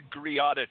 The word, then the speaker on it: Greada: Yeah, it's called the Greada Treaty. It's kind of like the name of the island in the Caribbean, Grenada, but it's spelled Greada.